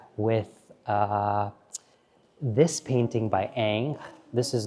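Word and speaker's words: Ingres: Ang some people might read his name and pronounce it as ingr which is incorrect but this little sketch by Ang I love so much we're very familiar with uh this painting by Ang this is not the the finished version this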